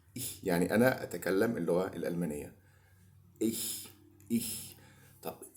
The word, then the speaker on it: ich: كلمه انا في الجيرمان هي بتبقى اسمها ich ich ich. تاني ich، لان احيانا بتنطق النطق بيبقى غلط، بتبقى ايش نو نو. مفيش حد يقول ايش في الالماني دي خالص.